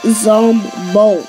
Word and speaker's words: Zombolt: Lizzie, can you stop saying my name wrong? It's offensive. Makes me angry. It's Zombolt.